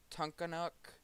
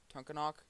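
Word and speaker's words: Tunkhannock: headed northeast towards meshapin and uh to not tonkanuk tunkanak sorry i am terrible at names and pronouncing them so yeah over here still watching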